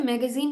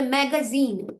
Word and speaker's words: magazine: হ্যাঁ, তাহলে ম্যাগাজিন, নট ম্যাগাজিন, ম্যাগাজিন। জিটা কখনো কখনো ম্যাগা, দেখেন একটা আনকমন জিনিস এখানে হয়েছে। জিটা যখন শব্দের মাঝখানে আসে তখন এটা সফট জয়ের মতো ইউজ হয়, যেমন ইঞ্জিনিয়ার, ওকে, যেমন টেকনোলজি।